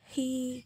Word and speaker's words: he: Nah, memang ya di sini hurufnya e. Di belakangnya huruf e, tapi kita bacanya i. She, he gitu.